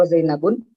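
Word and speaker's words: زينب: Maka ini bacanya wa Zainabu Ruqayyatu wa Fatimah wa Ummu Kulthum Ibrahimul Khatimah.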